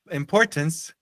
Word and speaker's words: importance: Remember, reminder of the importance, da importância, de novo, a sílaba no português é a terceira, aqui é a segunda.